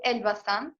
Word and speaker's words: Elbasan: So the city that I live in is called Elbasan.